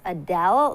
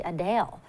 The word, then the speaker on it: Adele: While many pronounce it as Adele, the singer says it's actually Adele.